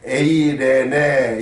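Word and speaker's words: εἰρήνη: 헬라어로 말하면 에이레네, 이렇게 발음하고 있는데 영어로는 우리가 피스죠.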